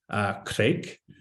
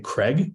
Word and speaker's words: Craig: And the reason that is because everybody in the Middle East has a really hard time pronouncing Craig because of the way that the alphabet is. So a lot of people would call me Kreik.